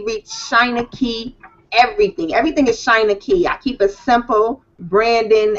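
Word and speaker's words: Shynankey: Everything is Shina Key. I keep it simple branding, everything uniform. So, China Key and I know it's not pronounced so simple, but it's China like China.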